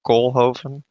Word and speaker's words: Koolhoven: Yeah, yes, you did butcher the name, but you actually made it sound cooler than it is because it's Koolhoven. So having it being called